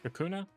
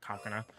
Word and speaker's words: Kakuna: This the static shiny uh the static alpha coconut kakuna. Kakuna, not coconut.